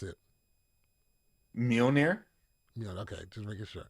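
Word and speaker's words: Mjölnir: for um thor's hammer let me hear you pronounce it mjolnir yeah okay just making sure now i got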